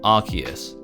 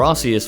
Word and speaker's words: Arceus: Finally, we're looking at the main legendary of the game and the god of all Pokemon, Arceus, or Arceus for all those people who don't like to pronounce it correctly.